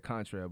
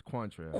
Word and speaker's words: Quantrelle: You said Quantrelle, but it's Quantrelle.